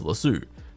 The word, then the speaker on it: lasso: my pronunciation before, but here in Australia, I've always heard and known this word to be said as lasso, unless I guess it's in the context of the TV show Ted Lasso.